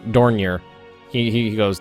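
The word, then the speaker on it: Dornier: flying donor 11s and I pretty sure donor is uh incorrect that's just what I say in my head and I've been pronouncing that way for years I don or something like that da Danier dorier it's DOR dorier although um failed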